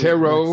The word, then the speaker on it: ptero: Tara, what's the Tero, next? Ptero. Wait a minute, you say P as in Patty? Yeah, it's a silent P.